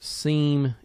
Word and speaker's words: SIEM: go over the concepts and design of utilizing Sim and sore uh also be advised that Sim is sometimes pronounced seam it's kind of just depends on uh who